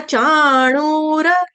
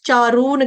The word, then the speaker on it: चाणूर: कस स पूर्ण कस उसके बाद है चाणूर र पूर्ण चाणूर आप लोग इसको पढ़ रहे थे कल रूपा माता जी और जया माता जी और एक और माता जी थी मुझे नाम याद नहीं है कौन था तीसरा जो चारून चारूण कह रहा था ठीक है तीन माताजी थे जो चाणूर को चारून कह रहे थे चारून नहीं है चणूर ण कौन सा है बाण वाला इसका ध्यान रखेंगे ठीक